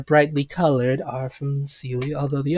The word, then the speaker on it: Seelie: colored are from the Sealy, although the Unsealy, I don't think I'm pronouncing that right. I'm much more... It's Sealy and Unsealy. Okay. You got it right.